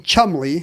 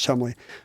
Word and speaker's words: Cholmondeley: announcers had to say, Penelope Chumley, which is spelled Cholmondeley, it's a trap, you have to know it's Chumley, raised her azure eyes from the crabbed scenario.